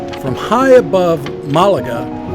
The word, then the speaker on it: Málaga: It's Malaga. It's like the emphasis is on the A.